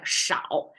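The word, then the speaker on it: 少: So this is the sense of, on the right side, it's pronounced as shao.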